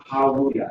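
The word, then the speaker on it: הללויה: This is the word hallelujah.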